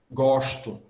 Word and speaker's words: gosto: É como o S antes de T, por exemplo. Eu não pronuncio, em português, não. Pronuncio sh, gosto. Eu digo assim, mas quando eu vou falar, por exemplo, italiano, eu não uso, e espanhol, eu não uso esse S com esse chiado, né?